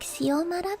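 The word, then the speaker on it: Xiomara: Well, it's a Hispanic name, so the X sounds like an S.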